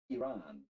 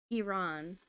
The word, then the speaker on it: Iran: similarly with an N instead of okay it's pronounced Iran Iran Iran country of Iran Iran Iran Iran got it